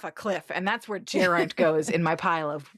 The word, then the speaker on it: Geraint: It's Geraint. Learn how to spell it.